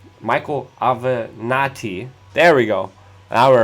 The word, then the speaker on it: Avenatti: And also Michael Avanti, Michael Avenatti. There we go. Now I remembered how to pronounce his name.